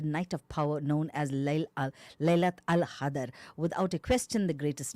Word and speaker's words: Laylat al-Qadr: How do you pronounce it? Laylat al-Qadr.